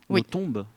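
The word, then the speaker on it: Nothomb: Et ensuite la figure d'Amélioton qui revient, Notombe. Oui. Oui. On prononce à la belge.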